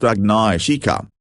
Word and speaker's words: Agnieszka: kinds of things, because her name is Agnieszka, pronounced Agnieszka, and the Hungarian equivalent is Agnes, pronounced Agnes, whilst Agnieszka is the diminutive form.